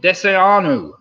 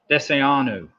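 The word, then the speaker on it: desayuno: Number 3, arguably the most important meal of the day, breakfast, is called Deseanu. Deseanu. Don't really mind how you spell it, but it's spelled Desaayuno.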